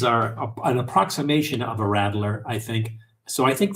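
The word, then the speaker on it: Radler: kind of make a rattler. Now, a rat, not rattler like the snake or or what the babies do. Rattler. R A D L E R.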